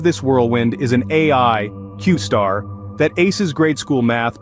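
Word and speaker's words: Q*: about a groundbreaking AI enigmatically named Q asterisk pronounced qar have been Making Waves closely tied to a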